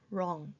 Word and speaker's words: wrong: 소리가 나지 않는 W도 있습니다. wrong인 경우에 글 쓰다 틀린이라고 했을 때 앞에 W 소리가 나지 않습니다. 아니고 wrong 이렇게 소리가 나면서 W가 발음이 나지 않은 경우입니다.